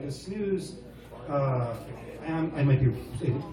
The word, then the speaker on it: snus: And it's because of this switching over to the snus.